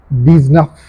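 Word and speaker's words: dix-neuf: So it becomes these nuff.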